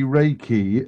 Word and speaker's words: Reiki: Essentially, Reiki, as it's pronounced, and you got there several times, it